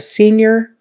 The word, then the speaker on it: senior: high school, you're a senior. It's spelled with an I-O-R. We pronounce it like an I-E-R, senior, Remember your short I's.